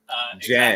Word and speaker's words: Gen: Jen. Exactly? Jen. Because G's can do different things.